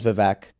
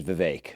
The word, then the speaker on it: Vivek: And before I had you on the show, I was saying Vivek, and everybody says Vivek because it's just, I don't know, anglicized or whatever. But I would also say that's very fair because it is spelled Vivek. So that is a pretty phonetic pronunciation. But the way it's pronounced is Vivek.